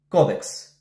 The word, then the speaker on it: кодекс: за дискусия е кодекс правилно е тя да се произнася с ударение на първата сричка кодекс благодаря ви за вниманието